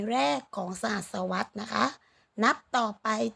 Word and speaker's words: สหัสวรรษ: เวลา เป็น สัตว์ สหัสวรรษ คำ นี้ อ่าน ว่า สหัสวรรษ นะ คะ เมื่อ หมาย ถึง ช่วง